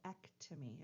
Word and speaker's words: ectomy: So ectomy is how that's pronounced.